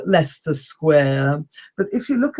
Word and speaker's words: Leicester: the centre of London, there's a square called Leicester Square.